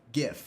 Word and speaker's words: GIF: Um I think that I say GIF. I think I say GIF. Um like the peanut butter, not GIF like the image.